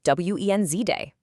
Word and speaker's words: Wednesday: For Wednesday, just ignore that first D entirely. It's just w e n z day.